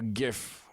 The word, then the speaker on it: GIF: simply had a a gif I I I use the hard G I know I'm supposed to use this soft J whatever nobody cares sound